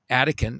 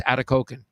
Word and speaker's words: Atikokan: by a place called, as the local called it, Atikokan. And I called it Attican. I mean, it was weird. I couldn't pronounce it. And he said, no, it's Atikokan.